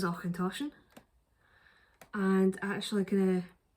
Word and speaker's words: Auchentoshan: and it gives us a guide to how to pronounce announcer says ochentoshan and actually gonna it's